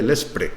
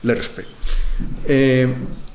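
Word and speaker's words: LESRPE: lobo dentro del LERSPE, es muy difícil de pronunciar, por eso la mayoría de la gente dice LESPRE, pero es LERSPE.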